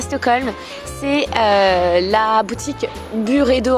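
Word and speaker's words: Byredo: stockholm c'est la boutique bure et d'eau en fait à se prononcer du rédo mais on peut l'appeler by redo il ya aussi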